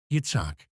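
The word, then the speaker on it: יִצְחָק: Did you know Ishaq is a Hebrew name and pronounced as Yitzhak, and it means to laugh?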